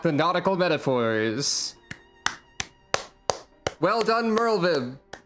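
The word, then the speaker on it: Merlwyb: nautical metaphors well done Merle Viv or merlweb because people pronounced your name not with a V sound last time I think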